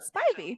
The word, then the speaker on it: Spivey's Corner: Even though it boasts a possible population of just 49 people, Spivey's Corner Spivey.